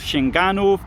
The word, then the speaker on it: Sięganów: the middle of poland this place is called shinganu that's s i e g a n o w the only it's not an e it's an it's not an o it's an o but never mind uh there's your polish lesson for today so here what we've